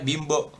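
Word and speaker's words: 貧乏: Nah, ini kalau bimbo kan ini aslinya bin nih. Binbo. Tapi bacanya bimbo.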